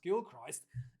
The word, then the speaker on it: Gilchrist: I was told that it's pronounced Gilchrist because Grant Gilchrist received the suspension due to a high shot on Anthony Gillock against France.